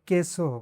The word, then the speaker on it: queso: When Q is followed by U and then E or I, the U is silent. For example, queso is pronounced "keso," not "kweso."